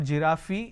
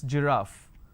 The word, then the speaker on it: giraffe: giraffe starting with g it's not jirafi it's giraffe and we have a word